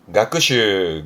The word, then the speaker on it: 学習: 발음은 가크슈, 가크슈.